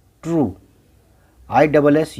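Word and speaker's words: true: टी आर यू ई, ट्रू, ट्रू।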